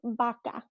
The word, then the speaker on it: vaca: So this word here is pronounced vaca. Vaca. There's never a vroom sound, va, in Spanish. It's always a ba.